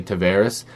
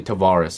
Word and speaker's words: Tavares: I here's the thing I was trying to train myself to say to varus but it's actually Tavares and I was saying it right the whole time and people told me